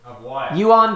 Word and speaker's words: Yuan: pronounced it correctly that time josh did he pronounce it correctly yuan dynasty correct you got it right good job